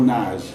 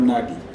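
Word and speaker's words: Nagy: is Thibault Nage, not Nagi. Okay. I've heard a lot of Cameroonian journalists call Nagi. He's Thibault Nage. Thibault Nage. Thibault Nage. His parents, he's of Hungarian descent, and it's pronounced as in Hungary, Nage.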